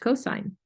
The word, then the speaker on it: cosine: of the hypotenuse is called the cosine ratio, pronounced cosine.